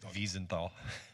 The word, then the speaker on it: Wiesenthal: Is there a comment and maybe a correct pronunciation, Dr. Lyman? I have a question. Wiesenthal.